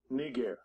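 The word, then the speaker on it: Νίγερ: can already see it how is it actually pronounced you ready strong's g3526 knee gear knee gear let me turn my speakers up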